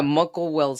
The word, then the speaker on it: Muckle-Wells: He was diagnosed with is that how you pronounce it? Muckle-Wells? Yeah, Muckle-Wells syndrome.